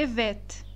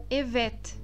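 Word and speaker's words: evet: sim em turco sim o erro mais comum ao pronunciar essa palavra é o te Este último te porque o te do turco e o te do português Eles são diferentes é incorreto eu pronunciar essa palavra como Ivete Ivete com este do final do português essa pronúncia está incorreta e o te do final é um ter que será pronunciado na ponta da língua Ivete Oi Ivete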